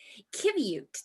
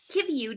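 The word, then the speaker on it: qiviut: i'm going to read you a short description kybute the strange word which is pronounced kibiu means down or under wool in the eskimo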